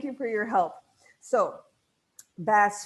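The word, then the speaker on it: Vasse: for your help so bass Felix and that's how Virginia reminded me to pronounce it not boss um is Margaret Rivers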